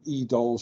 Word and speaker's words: EDOL: We call this forensics, and strictly speaking, EDOL should have been called EDOLF because it's also forensics, but that sounded too much like a sort of 21st century Nazi, so the F is silent.